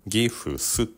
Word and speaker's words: gifts: つまり、1 つ目の方法は「 gifts」と考えることですが、2 つ目の方法は「t」を省略することで、「gifs」のように発音することができます。